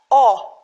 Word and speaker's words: о: write it down uh next is O which looks like English o uh sounds exact almost the same but there's no u in the end it's a straight sound oh just oh you know like in English words bought past form of by yeah